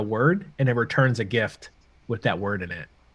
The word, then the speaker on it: GIF: say even action uh i pronounce a gift it's the correct way gift is correct it's a gift gift uh this this action